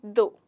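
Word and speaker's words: though: गड़बड़ा जाते होंगे, क्योंकि इसका एक्चुअल प्रोनाउंसिएशन जो है वो है दो। क्या है? दो। यहाँ पर जो हमारा लेटर जी है, जी, वो साइलेंट होता है।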